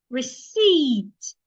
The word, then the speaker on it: receipt: Receipt. The P is silent as well.